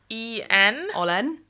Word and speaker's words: olen: So it's spelled Mina. Mina. Oh, sorry. Oh my god, how disgusting is that? OLEN Olen.